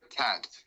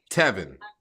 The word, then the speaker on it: Tevin: Tack? No, like Kevin with a but with a T. Tevin? With a T. So change the K for a T.